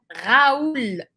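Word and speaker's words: Raoul: pronunciar o em francês então o nome Raul vira Raúl Raúl e ele é inscrito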